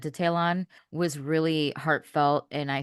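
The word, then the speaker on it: Ta'Lon: I was really excited to see Talon. How do you say his name? Talon. I was so excited to see him.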